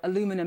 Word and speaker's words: aluminium: responding at this point to the steel and aluminium or aluminum as you Americans say you aluminum I still need to get used to that word aluminum tariffs that were imposed back in March.